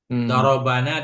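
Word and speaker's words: ضَرَبْنَا: Makanya beliau bilang bifathil ba darabana dengan fathah ba. Jangan dengan sukun ba.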